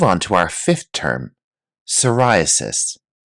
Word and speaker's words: psoriasis: Let's move on to our fifth term, psoriasis. Notice here the P is silent. Psoriasis.